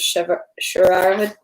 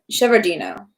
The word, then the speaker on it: Shevardino: now towards Borodino, and I believe the name of the place was Sharadino. I'm going to mispronounce it, so let me try by trying to do it by memory. Shevardino.